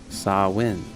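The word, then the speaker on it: Samhain: festival at the end of October saw win pronounced saw win saw win included a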